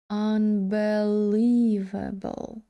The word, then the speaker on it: unbelievable: і другорядний тобто я буду двічі наголошувати ее unbelievable unbelievable наступне слово почитаємо разом давайте поглянемо на транскрипцію наголос на першому складі Tre treasure це слово